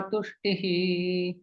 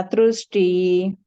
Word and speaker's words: तुष्टिः: अहिंसा समता तुष्टि तुष्टि नहीं, तुष्टि केवल, तुष्टिः। अहिंसा समता तुष्टि ट्रू नहीं है वो, तुष्टिः।